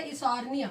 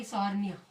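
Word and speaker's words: Eichhornia: Okay, और third हमने क्या बताया, ऑफसेट, एक्वेटिक होगा, और क्या बोलेंगे इसे, इसॉर्निया, थोड़ा स्पेलिंग में आई में कहीं लगता है, इसॉर्निया, ठीक है, टेरर ऑफ बंगाल कहेंगे।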